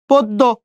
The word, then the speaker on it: পদ্য: তারপর দেখেন পদ্য, কয়কারে? প, দ, ওইকারে দো, পদ্য।